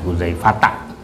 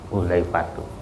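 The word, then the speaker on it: حذيفة: tidak bisa di ini Jadi dibacanya an huzaifata ya Jadi bukan an huzaifatu itu salah ketik itu jadi bukan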